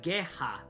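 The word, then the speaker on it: ゲハ: This gh is pronounced uh geha in Japanese which is ha hag bald backwards.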